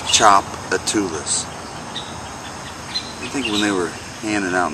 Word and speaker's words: Tchoupitoulas: this out you don't know that to pronounce Tchoupitoulas that is pronounced Tchoupitoulas thinking they were handed out names to things